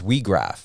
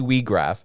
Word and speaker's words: Weag: can blow the whistle your last name is WRA yes I pronunciated that right correct yep that was that